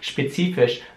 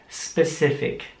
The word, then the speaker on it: specific: jetzt kann ich sie man darf nicht sagen spezifisch merkt specific man sieht dass das wort mit i geschrieben wird und weder mit ihm ausgesprochen specific speed speed heißt so viel